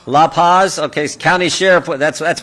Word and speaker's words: La Paz: are and I want to make sure I pronounce these loophos Lou Lou Paz like to say that County right La Paz okay County Sheriff that's that's what a Buckeye